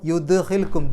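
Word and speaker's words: يدخلكم: പറയണം തൊട്ടുവെച്ച് പോയാൽ പോരാ അപ്പൊ യുദ്ഹിൽക്കും ദ് എന്നുള്ളത് എടുത്തു പറയണം വയുദഹിൽക്കും ജന്നാത്ത് അവിടെ നൂനിന്റെ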